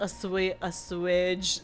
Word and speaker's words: assuage: Meeting you has helped assuage some of my concerns. Is that how you pronounce that? Yeah, it is.